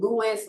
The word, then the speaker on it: Louis: That's Reese spelled like a bowl of rice, and Louis like King Louis.